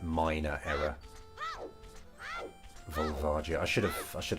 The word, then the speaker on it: Volvagia: you said about that I pronounced volia with an a sound which wasn't yeah it's not the way it's not the way to pronounce it yeah volv yeah